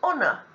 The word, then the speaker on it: honor: the sound h and here the answer is honor 5.3 we've seen some of these words before